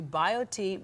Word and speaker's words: BioTE: happier log on to biot medical dot com and biot is spelled b i o t e so bio t medical dot com easy read